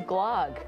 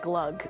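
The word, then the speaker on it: glögg: sweet, rich deliciousness of Glogg before eggnog season. Oh, but it's pronounced more like glug, but they didn't tell me that until the end.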